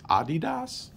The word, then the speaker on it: adidas: out um oh and i guess i've been pronouncing adidas wrong my whole life apparently it's adidas i don't know i never knew that so um adidas adidas